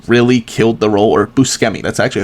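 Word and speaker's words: Buscemi: I think Steve Bushi really killed the role or Busi. That's actually how it's pronounced.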